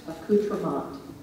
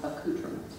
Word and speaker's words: accoutrement: The word is pronounced accoutrement or accoutrement.